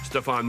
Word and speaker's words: Stefan: Stefan wird zwar weich ausgesprochen, doch sein Nachname Kraft ist Motto.